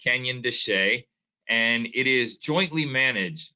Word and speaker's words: Canyon de Chelly: looks like canyon de chelly um it is pronounced canyon de che and it is jointly managed both with the